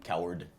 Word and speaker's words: Cowherd: Do you say the D? It says coward. Yeah. Coward. It's literally pronounced coward.